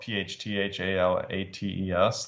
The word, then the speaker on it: phthalates: There's a lot of personal care products with phthalates, and that's spelled PHTHALATES, phthalates.